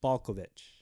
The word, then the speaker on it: Balkovec: Rachel Rachel Balkovec? Balkovec. First of all, her last name starts with Balk.